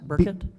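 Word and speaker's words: Burkitt: k IE TT I'm sorry how did you pronounce it burket burket yeah okay thank you you're welcome do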